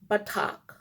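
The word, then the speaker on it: בָּטַח: So, it's pronounced batak.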